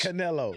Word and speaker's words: Canelo: Canelo.